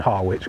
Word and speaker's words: Harwich: uh to Har Oldtown I very interchangeably call it harch and harwitch cuz it has one of those stupid silent letters in there that are just basically a secret Cod to to humiliate Outsiders oh yeah what else